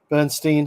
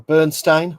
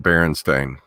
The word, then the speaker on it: Bernstein: And here's the fantastic main theme by Bernstein, or Bernstein, whichever way you want to pronounce it. As long as it's not Berenstain.